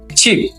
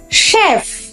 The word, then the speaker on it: chef: চিপ। No, it's chef. Chef. CH এর sound এখানে কারণ শেফ ওয়ার্ডটা ফ্রেঞ্চ থেকে এসেছে ইংরেজি ভাষায়। শেফ।